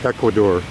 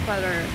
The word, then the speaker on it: Ecuador: do you pronounce it Americans say Ecuador but you have a softer inflection Equador yeah the Spanish one the the romance languages are softer and more right so you